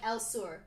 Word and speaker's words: Elsur: Like Elsur. Like Okay. It's, Elsur. it's Elsur. Spanish. Fantasy. I was gonna, Okay. is it pronounced Fancy. like... Yeah, it's Spanish. like the south.